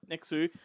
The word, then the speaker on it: Nx!u: His name is NX!U, and that's actually how it's spelled. Nexu.